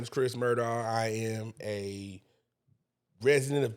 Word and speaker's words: Murdaugh: Now, I got the blessing, the joy, and the honor to be joined with the one and the only Chris Murdaugh.